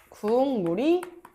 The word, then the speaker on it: 궁물: 국물도 우리가 국물이라고 발음하지 않죠. 국물이라고 발음하지 않아. 뭐라고 발음해? 국물이라고 발음해. 자, 뒤에 있는 비음 미음이 앞에 있는 기억에 영향을 주어서 기억은 뭘로 발음이 된다? 이응으로 발음이 된다. 그래서 국물이 된다. 궁물이 된다.